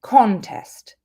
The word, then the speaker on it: contest: Again, stress on the beginning. The first syllable is the noun, contest.